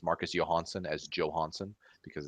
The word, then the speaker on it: Johansson: Like a lot of people pronounce Marcus Johansson as Johansson because it's just it's a J. It's a J. It's like, whatever. It's Johansson is how it really is, but that's fine.